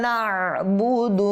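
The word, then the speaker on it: نعبد: অনেকে এটাকে বলে না বুদু, না বুদু, না বুদু বললে আইনটা পড়ে গিয়েছে, সেহেতু আমাদেরকে এখানে আইনটাকে ভালোভাবে উচ্চারণ করতে হবে।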